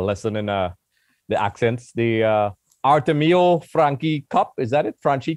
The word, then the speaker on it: Artemio Franchi: once again, a lesson in the accents, the Artemio Franchi Cup. Is that it? Franchi Cup? Artemio Franchi. Artemio Franchi. Is that, yeah. Do I get a 9 out of 10 for pronunciation?